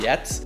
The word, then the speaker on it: Giertz: one and only simone gertz yet i think a lot of people end up saying gerts but i'm pretty sure you're supposed to pronounce it yet but you know who